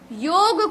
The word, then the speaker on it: योग: तो पहला पॉइंट ये क्लियर हो गया कि योगा नहीं है, योग है। योग भी नहीं है, योगा भी नहीं है, योग है, योग। ठीक है, ये सही उच्चारण है।